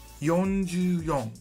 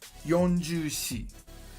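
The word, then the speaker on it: 四十四: Yonju-yon. Now, you could say Yonju-shi, but it's weird. It's really weird. For this reason, most people say Yonju-yon.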